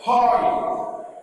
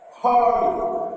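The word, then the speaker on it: οἱ: Hurry. Hurry. You pronounce the rough breathing from your throat. Hurry.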